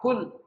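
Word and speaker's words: قل: Tapi kalau kita bacanya qul karena susah ngomong QF artinya berubah.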